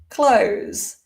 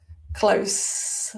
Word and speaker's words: close: pronunciation is different so close with a S unvoiced and close with our voiced z sound close the door close